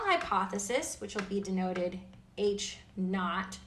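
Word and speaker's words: H₀: which will be denoted H naught that's how you say it H Sub Zero is H naught the null hypothesis states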